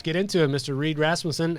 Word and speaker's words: Rasmussen: And did I say Rasmussen? Is it Rasmussen? Rasmussen? How do you pronounce it? Rasmussen it is. Good Danish name.